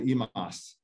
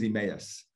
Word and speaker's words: Emmaus: emmaus back in the day they call the emas but it's called it's known as emmaus very pennsylvania dutch kind of uh that area